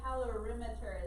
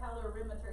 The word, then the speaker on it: calorimeter: measure heat flow so calorimeter is how you say that it looks like it looks like it looks like color or it looks like cattle calorie mixture but calorimeter is a technically supposed to say all right let's go